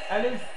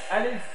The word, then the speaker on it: ألف: আলিফ ألف আলিফ। ألف শেষে বাতাসটা বের করে রাখতে হবে, আর বাতাসটা চালু রাখতে হবে।